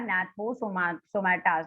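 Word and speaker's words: Gnathostomata: I think having the jaws are agnathas and without the jaws are gnathosomatas. तो वहां पे जो G है वो silent है. How you will pronounce? Gnathosomata.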